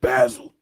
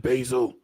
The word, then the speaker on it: basil: In some other countries, they pronounce it basil. But here in America, we pronounce it basil.